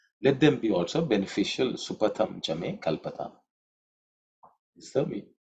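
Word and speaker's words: सुपथं च मे: Supatham chame kalpatam. Is that me? In terms of pronunciation, patham. That's a patha. Tha is second letter in the third vulgar, so it has to be aspirated.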